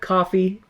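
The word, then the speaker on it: Ko-fi: Spelled coffee uh pronounced co spelled Kofi pronounced coffee. Yeah, spelled Kofi pronounced coffee.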